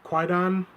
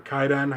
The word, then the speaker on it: Kwaidan: So what we're reviewing today is Kwaidan, or Kaidan, however you want to pronounce it, Kuroneko, and Onibaba.